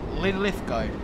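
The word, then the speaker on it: Linlithgow: not happening now uh Lin lithco a silent W like Glasgow ah okay thank you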